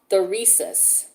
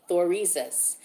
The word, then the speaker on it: Thurisaz: Okay, this symbol is called Thorisas. It's spelled Thurisaz. Thorisas.